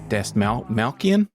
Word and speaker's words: Dastmalchian: this guy's name David Des malan I think it's Des I think you just don't put the tea in there I from what I've heard